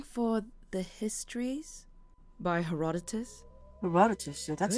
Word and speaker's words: Herodotus: Herodotus, so that's how you pronounce it. Herodotus.